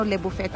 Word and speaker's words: Le Buffet: levu levu fet Kasi sabi saakin ng mexicano levu fet ang pronunciation nila eh Hala ang dilim pala dito